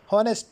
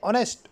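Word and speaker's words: honest: ये जो होनेस्ट word हम अदा करते हैं। असल में ये वर्ड है। वर्ड है ऑनेस्ट। ओ एन ई एस टी। यहां पर इससे पहले एच क्या है? एच साइलेंट है।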